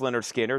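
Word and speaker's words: Lynyrd Skynyrd: Leonard Skard, pronounced Leonard Skinner.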